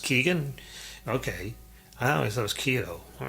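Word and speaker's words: Keoghan: I want to say Keogh. Someone said his name is pronounced Keegan.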